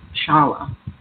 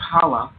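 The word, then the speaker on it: challah: of apples honey and a beautiful bread called Shala is pronounced Hala with the hot Thro sound at the beginning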